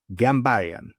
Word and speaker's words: Ghambaryan: Please welcome Gambayan. Did I pronounce it properly?